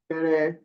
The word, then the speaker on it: Guterres: Guterres, Guterres. Because with that name, I think it's a French name, then you do not pronounce that S. It doesn't have a mark on top of it.